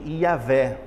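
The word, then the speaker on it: Yahweh: a título de curiosidade o judeu quando se depara com essa palavra na bíblia hebraica ele não pronuncia aí a ver como nós podemos fazer toda vez que eles batem o olho nessa palavra aqui eles pronunciam adonai porque essa palavra ia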